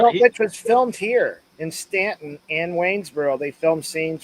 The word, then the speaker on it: Staunton: Although it's spelled Staunton, but it's pronounced everybody. And that's how you know whether people are locals or not. Is how they pronounce the name, but they say Stanton.